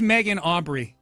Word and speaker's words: Megan Aubry: Yeah, her name's Megan Aubry. Mijilu Iabri. It's spelled exactly like Megan Aubry would be spelled.